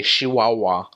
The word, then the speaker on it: Chihuahua: one's very nasally and they pronounce their CH is more like an SH they don't say Chihuahua they say she WA with a Zed Abacha